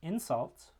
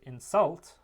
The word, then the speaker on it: insult: stress syllable and so in the noun insult um that stress syllable is the first vowel the first syllable whereas in the verb insult um the second syllable and the second vowel is the stressed one and U that's a